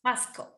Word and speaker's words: Pasco: Is it Pasco? Is that how you pronounce it? Yes. It's Pasco? good. Pasco.